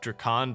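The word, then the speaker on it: Drakan: harder fight than Ranus Draken in A Taste of Hope, which by the way, I know it's pronounced Drakon, but why say something in 2 syllables when you can say it in 1?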